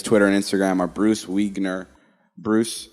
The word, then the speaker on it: Wiegner: said his last name is pronounced like weiner but with a g um he's a producer